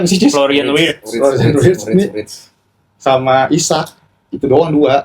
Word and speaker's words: Florian Wirtz: Bacanya apa sih, Cuk? Florian Wirtz.